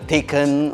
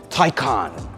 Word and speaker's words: Taycan: name of this car it isn't Porsche 'Taken', or 'Tekan' It is Porsche Taycan that means in Turkish